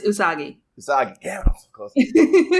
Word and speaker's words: Usagi: I was gonna pronounce. I always say it's not Usagi, not Usagi, correct? It's Usagi.